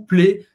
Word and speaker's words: plaît: E o AIT tem som de E, s'il vous plaît.